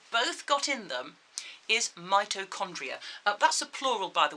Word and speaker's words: mitochondria: a big word mitochondria i know it's got a ch in the middle but we don't pronounce that as ch we pronounce it as mitochondria okay and what that